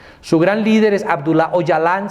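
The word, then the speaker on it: Öcalan: gran líder es abdullah ojalá se escribe ocalan pero se pronuncia Ojalá y su gran líder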